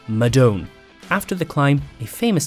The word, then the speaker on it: Madone: When it comes to its all-round race bike, we've heard Madone and Madone. However, it's pronounced Madone.